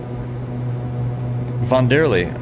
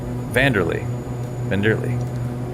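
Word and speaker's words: Wanderley: Von Derley, you're from Brazil. Sorry, I'm sorry, I butchered that. I apologize, man. W sounds like V. Okay, Vanderley. Welcome on board, man.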